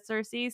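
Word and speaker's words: Circe: to call her kierke i want to say please say no i know it's accurate um and i i say that every time i say her name i do like clarify but everyone's in english knows her as cersei so it's just sort of come out that way sure yeah it's interesting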